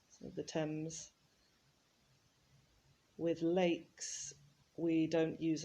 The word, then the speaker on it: Thames: the amazon the thames notice the pronunciation there of thames uh as often happens in english spelling it's it's written in a completely different way to how it actually sounds the thames with lakes we don't